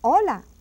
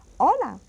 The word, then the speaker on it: hola: beginning of the program Ola Ola see how I said hola no h sound don't forget those H are not allowed to be um pronounced now let's go to